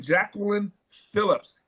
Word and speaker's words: Jacqueline Phillips: We have none other than Jacqueline Phillips. Am I pronouncing that right?